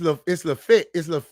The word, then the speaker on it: Lafayette: It's Lafayette.